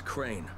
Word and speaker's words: Crane: you from store no my name's crane crane crane rhymes with train and brain and s and Grain and rain and plain and the other kind of plane and can I come